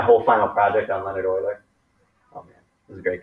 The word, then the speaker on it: Euler: euler yeah that's how you say his name euler e-u-l-e-r is euler uh leonard euler in 1727